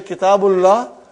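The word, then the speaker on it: كتاب الله: So, coming there, brother, I was just trying to explain you that when you say Kitabullah, you never say Kitabullahi.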